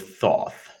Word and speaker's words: Thoth: A being by the name of Thoth. Which, come to think of it, now that I'm really thinking about it, I think in Egyptian it's pronounced tote, but let's fuck it.